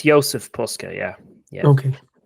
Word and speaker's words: Jozef Puska: said ysf is it y yeah yeah it's Joseph Pusa yeah yeah okay right okay so uh next